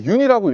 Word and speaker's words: 윤: 많은 분들이 아마 이제 윤이라고 읽거든요. 연이라고 읽으실 수도 있고 뭐 여러 가지 방법으로 읽으실 수 있는데 윤영근 화백님의 성입니다. 그래서 외국에서는 윤이라고 많이 부르기 때문에 제가 윤이라는 선생님의 성을 제가 이렇게 제목으로 쓰게 되었고요.